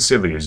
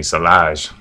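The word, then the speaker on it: sillage: But there's good silage though. There's good, or excuse me, silage. I'm trying to remember to say it that way. That's the correct way to say it.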